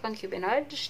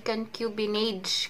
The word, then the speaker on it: concubinage: And punta naman tayo sa concubinage.